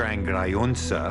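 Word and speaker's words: Grajonca: his name was original his name is Wolf gr gruna which is the proper pronunciation of what seems to be spelled gr junka my sense is that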